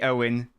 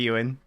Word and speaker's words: Ewan: progress from there uh he's about to call me owen oh sorry did not call you you in i apologize you in i thought i thought i said it right i'm so sorry ewan hello bartos god of